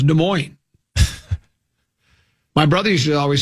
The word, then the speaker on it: Des Moines: I say Des Moines. What's Des Moines, yeah. I you drop the S, Des Moines, and you drop the other S. So, it's not Des Moines, it's Des Moines.